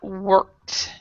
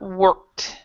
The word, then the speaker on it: worked: of worked okay Mark worked diligently work work the E the e here is silent so Mark worked worked yeah so TR